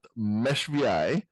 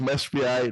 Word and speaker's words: meshVI: COO and co-founder at meshVI. I did verify on both the last name pronunciation, which I probably screwed up, and on the company pronunciation, it is pronounced meshVI, not meshV or mesh6.